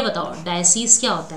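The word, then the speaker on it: diocese: ठीक है, डिसोर्स क्या हो जाएगा? Actually the correct pronunciation must be डायसीज, है ना?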